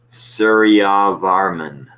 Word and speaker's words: Suryavarman: Suryavaraman. How is that name pronounced? Suryavarman II.